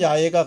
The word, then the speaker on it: 야훼: 원 발음은 야훼가 가깝고 이것이 중국으로 가서 음역되는 과정에서 우리가 받다 보니까 여호와라는 이름으로 약간 좀 변형이 됐는데, 여호와나 야훼는 똑같은 말이고요.